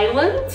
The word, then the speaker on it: island: mas a gente não fala, que são as silent letters, são os sons mudos, como por exemplo na palavra island ou no verbo climb.